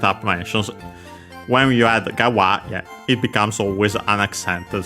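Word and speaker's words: 側: Gawa, as mentioned also by the plugin online dictionary plus plugin combination, becomes unaccented. Regardless, it means side.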